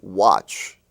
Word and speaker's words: watch: match family you have watch w-a-t-c-h it seems that when you have a w in front of an a it changes the sound of the a of of the a